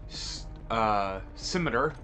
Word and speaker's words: Scimitar: Regardless, we are covering the new MP9 aftermarket part, or the FJX Horus, the Jack SCIMITAR, that's how it's pronounced, that's what Google says it, SCIMITAR.